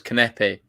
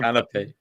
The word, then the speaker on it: Kanepi: It's Kanepi. John called it Canopy.